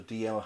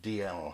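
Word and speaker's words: Dalziel: to being called the DL Highlanders that is spelled d-a-l-s-e-l-n and it sounds like doubt it it's written right down down but it's actually DL Highlanders and um he was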